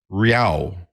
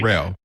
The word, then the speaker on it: Rao: By the way, you can pronounce it as if there was a Y between the A and the O. Rao. No, Ray. I'm your, let's put it another way. Rao.